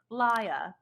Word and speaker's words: Leah: make should we make Leah do it that's probably for the best excuse me and she's gonna kind of like poke you in the side a little bit it's pronounced Leia is it because you're